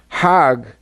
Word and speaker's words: Hajj: Now, Hajj is a pilgrim to Mecca. Hag is the Egyptian pronunciation.